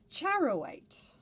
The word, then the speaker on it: charoite: it only makes sense that it would be pronounced charowite um yeah really really cool i'm glad i